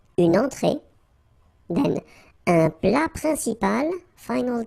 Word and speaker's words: principal: Then un plat principal, final T here not pronounced. Un plat principal. En, remember, it's nasal, it goes in your nose. Un principal.